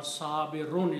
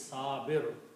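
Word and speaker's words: صابرون: He is sir or sabirun is the full word. But when we stop he says sabu. The word is sabirun.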